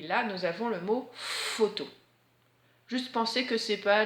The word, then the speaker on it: photo: F cette fois, puisque quand le P donne la main au H, il chante F. Et là nous avons le mot photo.